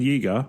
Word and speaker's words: Jager: in Captain dozer and Jager rhymes with eager thanks for that pursue